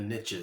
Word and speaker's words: niche: riches are in the niche I think is the I mean I know it's not pronounced niches but it Rhymes better I heard it said